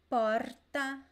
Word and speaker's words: porta: on the accent so you could pronounce this word as poh porta porta all three options are very common it is not that